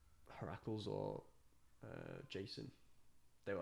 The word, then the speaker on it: Heracles: It's Heracles.